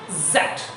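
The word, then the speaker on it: Z: অনেকে যেটা বলে জেড, জিহ্বার চারটাহে উপরে লাগবে না, জিহ্বার আগা দাঁতের গোড়া স্পর্শ করে গোড়াকে ধাক্কা দিয়ে উচ্চারণ করতে হয়। দেখেন জ্যাট, আপনার সঠিক প্রনাউন্সিয়েশনটা যদি না হয় আমার মতো এরকম সাউন্ড করেন জ্যাট, বলেন সবাই জ্যাট, অ্যাগেন জ্যাট।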